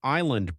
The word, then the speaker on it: island: Why is island pronounced without the S?